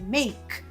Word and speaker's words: make: E a propósito, make termina em e. Nada de você pronunciar esse e, hein? É make, não é make.